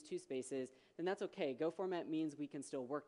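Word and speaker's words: gofmt: for formatting source code go format or go func if you're one of those weird people who pronounces it that way you know like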